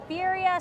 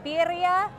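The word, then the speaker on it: birria: has returned the beef bira sandwich I think it's pronounced biria uh but W that's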